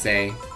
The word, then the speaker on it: Sai: Call me Sai. Alright, Sai, I am Dorothy. Say Sai. Yes, yes. Sai, say. Yes, yes. Say, say. Oh, it's supposed to be pronounced say.